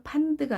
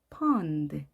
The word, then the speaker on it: pond: 우리말로 판드가 아닌 pond. 울림이 크죠? 그렇게 정확하게 발음하셔야 됩니다.